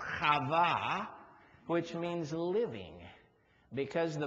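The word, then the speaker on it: חַוָּה: Book of Genesis Eve which in Hebrew is pronounced kava which means living because the Bible says she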